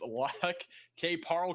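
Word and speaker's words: Lac qui Parle: This is going to be for Yellow Medicine and I find the pronunciation. It's L K. Parl County in Minnesota.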